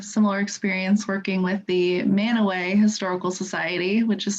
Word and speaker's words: Mantua: historical society which is spelled m-a-n-t-u-a like mantua um and they say that it's named after a city in italy but i think they actually pronounce it in italy mantua i could be wrong about that but it's really just a local thing that only the locals really know that it's pronounced man away and you almost feel